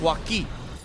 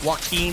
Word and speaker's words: Joaquin: It's Joaquin. Kind of like Joaquin Phoenix. It's just Joaquin.